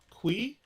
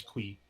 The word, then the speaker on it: Qi: So I believe his name is pronounced Lin Kui. It's Q. His last name is Qi. I believe it's Kui.